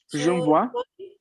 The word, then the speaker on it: j'envoie: Se pronuncia je envoye o en J'envoie, envoie.